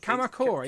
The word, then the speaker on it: Kamakura: Kamakura, yeah.